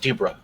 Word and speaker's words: Deborah: debra what debra yeah it's deb deborah pronounced dubra uh but yeah so